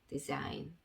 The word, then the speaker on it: design: N 앞에 G가 있을 때는 묵음이라고 생각을 해주시면 되겠습니다. 그래서 G는 아무 소리도 적어주시면 안 되고요.